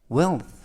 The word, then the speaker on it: wealth: 이번 표현은 wealth, wealth, wealth 라고 발음하시면 되겠고요. 맨 끝에 있는 th 발음은 번데기 발음이 되겠습니다.